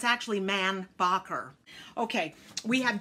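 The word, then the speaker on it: Mainbocher: to say this and it was mambo shay however it's actually man bocker the thing is he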